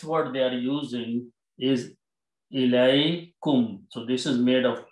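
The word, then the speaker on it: إِلَيْكُمْ: Then their next word they are using is Ilaikum.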